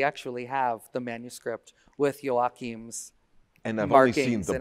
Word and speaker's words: Joachim: And then my violinist said, let me show you Brahms' violin concerto with, it was his name, Joachim, how do you pronounce? Joachim.